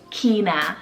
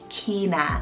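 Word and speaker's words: Qinah: Now Q was hard, but I found one that I love, and that's the name Kina, spelled Q-I-N-A-H, Kina.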